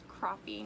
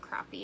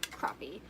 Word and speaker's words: crappie: It's crappie, not crappie. And there was even just some discussion on how to spell it, but it is. It's crappie.